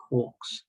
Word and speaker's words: quarks: george zieg independently discovered quarks now murray gilman actually made up the word and he actually wanted to be pronounced quarks as in k-w-o-r-k-s quarks it's a moot point